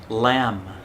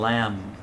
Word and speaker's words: lamb: baby sheep is called lamb yeah the b is silent there's no b sound in lamb usually uh with the